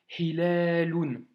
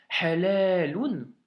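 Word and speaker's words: هلال: tombes sur ce mot, tu sauras que c'est Hilalun d'emblée. Par contre, si tu le prononces mal, tu pourrais lire halalun. Et là, par contre, c'est pas du tout la même chose, tu vois.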